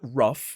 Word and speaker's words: rough: it makes sense that rough, which ends in the same four letters, rhymes. They both end with OUGH, and both of those two endings are pronounced as uff.